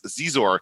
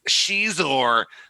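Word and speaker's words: Xizor: And the guy's like, oh, look at this Prince Zizor. And this kid goes, it's Shizor. Like he's like correcting his pronunciation or something.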